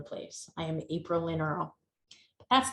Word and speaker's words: Earle: My last name is Earl. It has a silent E on it.